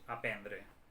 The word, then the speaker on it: aprendre: La forma de l'escriptura és amb R, aprendre, però la pronúncia és aprendre.